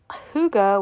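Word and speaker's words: hygge: So, it's Huga, which is spelled H Y Ge. It's this the Swedish term for like this coziness, this comfort, but it's pronounced huga.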